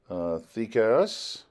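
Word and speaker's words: δίκαιος: When this is transliterated, our English D is used, but there's really not a D sound in modern Greek. It's more of a TH sound. Two letters have a TH sound. So this is more pronounced if you're ever traveling around Athens.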